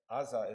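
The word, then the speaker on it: עזה: Azah is how you say Gaza in Hebrew.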